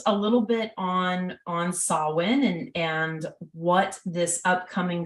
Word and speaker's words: Samhain: with my like speech or why I say sowin um but but it is solid so just so you know and you can pronounce it um correct but no matter how